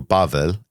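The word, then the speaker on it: בבל: In Hebrew, Bavl is how you say Babylon.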